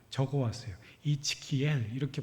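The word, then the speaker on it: Ezekiel: 제가 처 생수 안 듣는 발음이라 적어 왔어요 이츠키 이렇게 발음을 한다 그래요 이츠키 굉장히 어렵잖아요 에스겔을 이이라고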